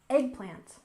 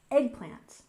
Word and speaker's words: eggplant: We stress the first syllable, eggplant, eggplant.